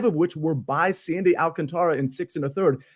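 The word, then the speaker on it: Alcántara: and they scored a lot yesterday in Miami too they hounded the ball how do we I always pronounce his name wrong Alcantara Alcantara right yeah he got bounced around he has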